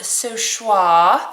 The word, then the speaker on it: So Choix: cool this is okay the company is called SWA that's how you say it schw I forget what